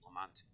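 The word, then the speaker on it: Lamont: you spell Lamount, that's how you say it, Lamount.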